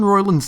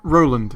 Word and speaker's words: Roiland: Also, you got Justin Roiland's name wrong. It's not Roland, it's Roiland with an I.